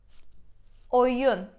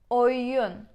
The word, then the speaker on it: Oyun: O as in English is almost the same sound. O. O, we say. As in corner.